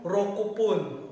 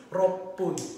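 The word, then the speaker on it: ろっぷん: So, wala po tayong rokupun. Okay? Or rokuhun. So, ang tamang pagbigkas po dyan is roppun.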